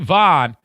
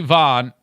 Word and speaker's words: Vonn: So Lindsey Vonn, is it Vonn or Vaughn? I think it's Vaughn, but it's spelled Von.